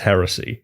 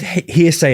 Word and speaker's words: heresy: Okay, he did mispronounce heresy. He did, because he just said hearsay again.